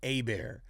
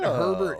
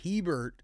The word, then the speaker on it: Hebert: It's actually Hebert. It's not Herbert, it's Hebert. And this is good. It's a learning process. It's a very Cajun last name.